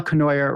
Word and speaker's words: Cournoyer: pronounce it you like just rhymes with annoyer that's right pamela conoyer rhymes with you remember